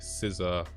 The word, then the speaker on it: SZA: Doja Cat, Janelle Monáe, SZA.